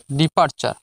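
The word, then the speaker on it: departure: টি ইউ আর ই এখানে টার উচ্চারণ হয় না টি ইউ আর ই চার উচ্চারণ হবে ফ্রেন্ডস আজকের ভিডিওর লাস্ট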